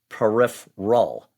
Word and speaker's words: peripheral: And in the first pronunciation, it's like I don't know the right term for it, but kind of contracting that third syllable it's almost peripheral. Okay, that's what I'm hearing. Oh, let's listen again. Peripheral. Peripheral. It's almost completely collapsed.